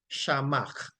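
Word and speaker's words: שָׁמַע: for her coming over it is transliterated to s h m a and it is pronounced shamak shamak shamak meaning to hear intelligently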